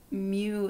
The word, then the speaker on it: mu: The first one is the 12th letter in the Greek alphabet, and it's pronounced mu in classic Greek and mi in modern Greek, but basically it means micro in Greek in this usage.